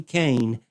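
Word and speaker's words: Koehn: If if you'd like to check her out, her name is Anna Lee Kain and the cane is spelled K O E H N.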